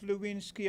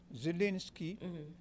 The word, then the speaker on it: Zelensky: What you say his name is again? Zelensky. Z is the first.